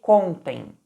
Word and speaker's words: contem: a palavra contem tá reparem que eu pronunciei contem com a sílaba tônica no com Ou seja no da palavra esse contem não é flexão do verbo conter esse contem é uma flexão do verbo contar Ou seja e espero